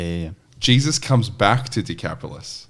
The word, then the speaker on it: Decapolis: so we're told that throughout is do you pronounce it decapolis yep yeah so we're told that he went